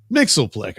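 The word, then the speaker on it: Mxyzptlk: It all sounds like something Mixelick. I know it's pronounced Mick says Pitoick, but I just can't say Pito even though I just did twice.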